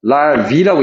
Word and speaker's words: larvae: 자, A 그러면 A로 끝나면은 단수고요. E로 끝나면 복수입니다. larvae라고 읽습니다. 그때는.